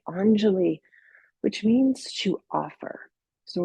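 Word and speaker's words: anjali: Anelie. It's spelled a n j a l i. anali which means to offer.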